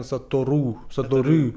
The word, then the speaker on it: Satoru: Do you have an U with a different pronunciation, or is it always in Japanese U? Satoru. U. Satoru. Satoru. Satoru. Yeah. So U. U. So it's always U.